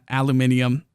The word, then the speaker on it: aluminium: they rebalanced the production lines containing bauxite and aluminium aluminum however it's pronounced uh which includes alternate recipes so uh